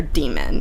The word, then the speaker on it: Daemon: So yeah, one of the other notable things about this world is that every human is accompanied by their demon, and that's spelled Daemon, which isn't super important, but it's interesting.